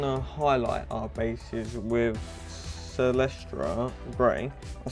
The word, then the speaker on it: Celestra Grey: Now we're going to highlight our bases with Celestra Grey.